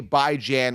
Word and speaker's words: Bijan: with Bijan Robinson here AKA by Jan which is the real way to pronounce it at the number three